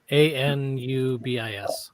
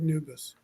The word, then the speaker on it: Anubis: you spell it n-u-b-i-s a-n-u-b-i-s oh a n yeah Anubis I was doing the exact same thing okay I thought it was new but I thought she said noobus well maybe now maybe